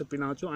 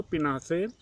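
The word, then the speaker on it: Augusto Pinochet: General अगस्टो पिनाचो pronounce पिनाचो and army general let द कूप। और general अगस्टो पिनासे, जिनको पिनासे भी कहा जाता है, वह एक आर्मी के जनरल थे, सेना के जनरल थे।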